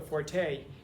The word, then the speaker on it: forte: Well, clearly language is not your fort because it's not pronounced forte.